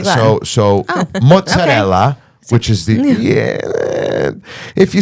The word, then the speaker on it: mozzarella: but the real true pronunciation is mozzarella. Mozzarella. Mozzarella. the Neapolitan dialect pronunciation. So the Italian Americans who immigrated from Naples.